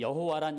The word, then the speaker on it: 여호와: 그러다 보니까 이들이 이것을 어떻게 할까 고민하다가 여호와라고 쓰여진 그 자음과 그들이 대신해서 불렀던 아도나이라고 쓰여진 모음을 섞어서 이제 발음을 만든 거예요.